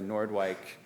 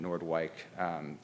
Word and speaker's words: Noordwijk: a documentary about the Noordwijk conflict also corrected my pronunciation Noordwijk conference they interviewed rave Pomerance